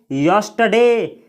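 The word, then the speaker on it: yesterday: और यह जो शब्द है यस्टरडे, इसको यस्टरडे नहीं पढ़ा जाता है, यानी इस शब्द में आर का उच्चारण नहीं किया जाता है, इसको बोला जाता है यस्टरडे।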